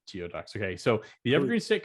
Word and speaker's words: geoduck: hell is a geode actually i pronounce gooey ducks but i always say geoducks okay so the evergreen